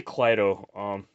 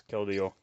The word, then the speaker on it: Keldeo: I say Clydo. I know that's not how you pronounce it. It's Keldeo. Galarian Surfetched, Galade, or Galad.